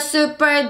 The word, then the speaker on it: super: Super duper 발음 중요해요. 슈퍼 아니에요. 슈퍼. 슈퍼는 우리나라에만 있는 발음이에요. Super. 해볼까? 시작. Super. 시작. Super.